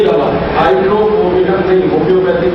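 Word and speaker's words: Hydrophobinum: दवा का नाम है हाइड्रोफोबिनम। मैं स्पेलिंग बोलता हूँ HYDRO, HYDRO, फिर उसके बाद PHO, P for parents, PHO, BI, ये भी वाला BINUM, हाइड्रोफोबिनम, ये दवा है।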